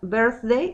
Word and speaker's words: birthday: Ahí, cuando pronuncian birthday, esa TH, si se tocan su cuello van a sentir una vibración.